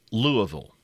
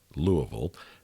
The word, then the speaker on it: Louisville: at the University of Louisville. Yeah, we say Louisville because on one of the YouTube videos that we talked about Louisville, I pronounced it Louisville, and I was kindly corrected on that.